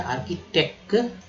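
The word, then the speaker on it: architect: वास्तुकला, आर की, आर, आर की, देखिए सी एच यहाँ पर क पढ़ा गया, आर्किटेक्ट।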